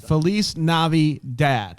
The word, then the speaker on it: Feliz NaviDAD: all caps that's right so that's how you say it without the accent it's the navi dad felice navi dad that's right that's exactly